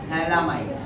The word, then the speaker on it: phthalimide: इसको बोलते हैं थैलामाइड। क्या बोलते हैं? थैलामाइड। PH silent.